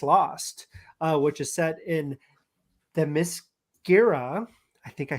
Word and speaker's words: Themyscira: Paradise Lost, which is set in Themyscira. I think I said it right. Themyscira, yeah, you got it.